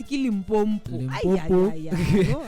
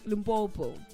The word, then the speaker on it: Limpopo: That's Limpompo. I see all the time whenever people mispronounce Limpopo, you get so attached, but I out-touch you. But it doesn't touch me. I'm just like Limpopo.